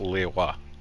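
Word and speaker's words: Liyue: from the ocean Le well it does have that subtle third syllable but yeah it's pronounced Lea gods and Dragons can't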